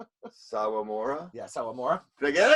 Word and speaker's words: Sawamura: Sawamura.